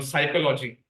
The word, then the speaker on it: psychology: pronouncing those NS sometimes for example psychology in Psychology word p is there but it's subtle it's silent so in Sanskrit it's